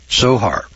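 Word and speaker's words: צֹהַר: It's spelled T-S-O-H-A-R, sohar, which is translated as window, but does not mean window or opening at all.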